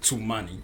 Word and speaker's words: Tumani: It's actually pronounced Tumani.